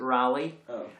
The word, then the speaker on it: Raleigh: It does, but I suspect I was trying to remind myself of the pronunciation I use, because American Raleigh is, we pronounce it Raleigh, and, Walter Raleigh.